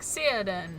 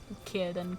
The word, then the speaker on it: Círdan: I was calling them things like Círdan and Celebrian, thinking it was a soft C. No, it's always a hard C. Círdan, Celebrian, Celebrindle.